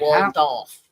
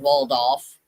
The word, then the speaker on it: Waldorf: Some pronounce it weirdly, some, well, yeah. Some pronounced it as Waldo. Some pronounced it as its Yeah, proper enunciation, Waldorf.